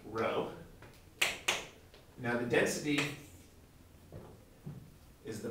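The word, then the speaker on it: ρ: get those confused with each other this is pronounced row now the density is the mass over the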